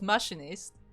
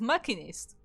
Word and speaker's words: machinist: And both me and Light pronounce it differently, because I say it's machinist and he says it's machinist. And who is right? Probably either neither or both. Neither, because in the Greek it's a ch sound.